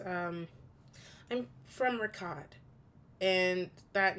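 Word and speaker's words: Riccadh: um so uh ripley says um i'm from ricott and that name does not spark anything for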